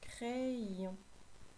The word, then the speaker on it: crayon: Écris crayon. Crayon. Mets la vidéo sur pause pour avoir le temps d'écrire. Crayon s'écrit avec un Y. Le Y remplace deux I. Je lis d'abord cray, puis ion.